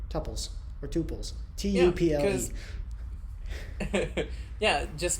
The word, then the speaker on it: tuple: out, and it's called tuples or tuples. Tuple. Yeah, just find the only way to fight the good fight. The pronunciation battle is make up your own. So it's tuple. Tuple. It's like bubbly.